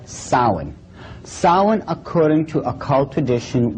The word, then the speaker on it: Samhain: call it sa now when you look at the name it looks as if it's saying Sam hayan or something like that no no no no this is properly pronounced in the ancient Gaelic as Sin Sin according to Ault